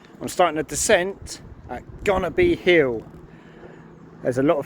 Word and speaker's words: Gonerby: Even though it's spelled going to be, you pronounce the O as a U. So it's actually going to be.